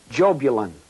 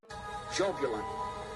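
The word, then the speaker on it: Jahbulon: The name is Jobulon. Jobulon. It is a combination of three words, Jehovah, Baal, and Osiris, the Egyptian sun god. Yah, Bel, On. Yah, Bel, On.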